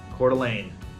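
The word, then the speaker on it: Coeur d'Alene: of different ones so cordelane c o e r heart of the all right heart of the all and this is yeah French French word MH just like another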